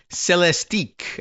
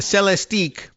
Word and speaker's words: Celestiq: And I don't know if they pronounce it that way, but it's C-E-L-E-S-T, like Celeste. And I guess the I fits in there too, Celeste, unless you thought the C-E-L-E was more like celery.